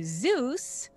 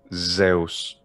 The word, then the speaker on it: Zeus: to say this but in american english i'd say zeus but in ancient greece when they're at the altar and they're doing sacrifices at dawn they might be praying to zeus well this probably requires